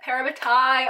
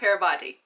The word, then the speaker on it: parabatai: We also learned in the show what parabatai are, and I have been saying it right in my head for the past year. Parabatai, not parabati. Parabatai.